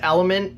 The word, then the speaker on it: LMNT: Pronounced element and spelled LMNT, LMNT is a tasty electrolyte drink that gives you everything you need and nothing you don't.